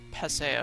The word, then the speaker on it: Paseo: It's Paseo, I think is how it's pronounced.